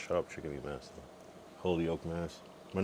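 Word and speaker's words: Holyoke: Holy oak mass. But not like holy oak like a oak tree, but it's all one word. H O L Y O K E. Holy Oak.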